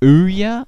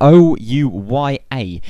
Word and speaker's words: Ouya: of that and also Ouya I think it's spelled like that I think it's said like that oh U ya is an Android powered